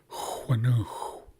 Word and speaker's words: Huanu: So I'll say it again and watch my lips as I pronounce the sounds of this word. Huanu. So you should be able to see that my lips are rounding at the beginning of the word and at the end.